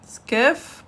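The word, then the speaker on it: كاف: Kef, pas qaf. Oui, ça c'est kef et non qaf.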